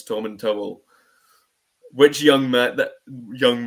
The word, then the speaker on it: Tomintoul: The good thing about that is whatever you say you're right as well because I mean the official pronunciation for us for the whiskey is Tom and Towel.